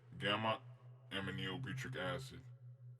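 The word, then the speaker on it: gamma-aminobutyric acid: So this is how you say it: gamma aminobutyric acid.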